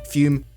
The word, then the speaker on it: Fum: It's spelt F-U-M. That's how you spell it. It said Fume because it's like classy or something.